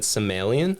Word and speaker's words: Samuelian: it is so we've for my entire life have said Somalian oh some alien okay yeah which is um we've kind of credited my grandfather for that pronunciation I think is how